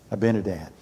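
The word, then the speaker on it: Abinadab: But the person that wanted to possess it, how do you say, Abinadiah? Abinadad. He was blessed because he possessed the ark of the covenant.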